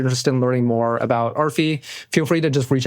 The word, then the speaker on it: Arphie: or if you're interested in learning more about Arfi, feel free to just reach out to me personally.